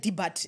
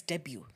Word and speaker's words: debut: yeah like I said debat they come and say no it's not Deb but it's debut they even say debut